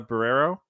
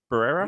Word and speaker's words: Barrera: Ortega and forgive me if I got her name wrong Melissa barrero Barrera yeah yeah Barrera yeah you got it yeah